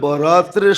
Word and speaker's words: বরাত: বানায়া নিছে একটু ডিস্টেন্স উচ্চারণের ডিস্টেন্স আর কি নাইলে লিখতে একরকমই লেখে লেখতে একরকমই আরবিতে উর্দুতে আরবিতে একরকমই লেখে কিন্তু উচ্চারণে ডিফারেন্স একটা হলো বরাত আরেকটা হল বারাত একটা হলো মুক্তি একটা হল চলন মানে আকারের পার্থক্য আর কি আকারের পার্থক্য কল